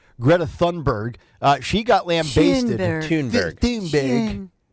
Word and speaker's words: Thunberg: Thunberg. Tune, the H is silent. Yeah, and it's like tuna, but just tune.